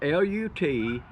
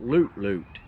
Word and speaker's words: Lut Lut: you this is spelled l-u-t-l-u-t and i would have called that lut-lut but i've watched his videos and he calls it loot loot so i'm gonna show